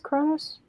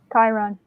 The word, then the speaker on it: Chiron: It's Kronos? How do you pronounce his name? Chiron.